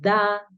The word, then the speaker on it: the: Entonces, cuando tú tienes el artículo, vas a decir de. Algunas personas lo pronuncian de, otras personas lo pronuncian da y en algunos casos se pronuncia di.